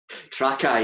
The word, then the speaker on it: Trakai: Trakai, yeah.